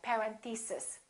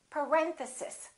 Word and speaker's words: parenthesis: mistake on this one a lot of them say something like parenthesis and it's actually the second syllable it's parenthesis parenthesis next one these can be